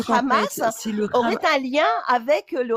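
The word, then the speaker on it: חמס: Le chamac qui est un mot hébreu, hébraïque, qui se prononce Hhamas et qui euh veut dire en hébreu l'abomination, tout ce qu'il y a de plus horrible.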